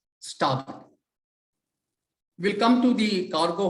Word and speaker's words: starboard: hand side is starboard spell test STAR board but in the Marine World we pronounce it as stop we'll come to the